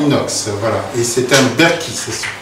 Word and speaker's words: Berkey: Et c'est un Berky. Ça s'écrit en fait B-E-R-K-E-Y, mais ça se prononce Berky.